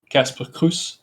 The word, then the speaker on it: Casper Croes: Um actually my name is pronounced as Casper Cruz.